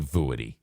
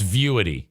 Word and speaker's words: Vuity: vuity or viewity voody why would it be vooady it's viewity it's spelled v-u-i-t-y and i pronounced it voody that sounds like something you'd get at like